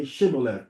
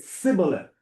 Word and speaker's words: Shibboleth: And he said, no, he didn't say, he said Sibboleth. Sibboleth. He didn't pronounce the H. He didn't say Shibboleth, he said Sibboleth.